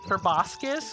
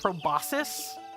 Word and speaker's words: proboscis: Did you know that proboscis can also be pronounced proboscis in English? And it's perfectly valid?